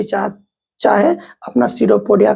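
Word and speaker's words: pseudopodia: हम लोग बोलते हैं सीडोपोडिया। क्या बोलते हैं? सीडोपोडिया। देखिए इसका स्पेलिंग क्या है? पी एस ई यू डी ओ पी ओ डी आई ए सीडोपोडिया। इसमें पी साइलेंट होता है।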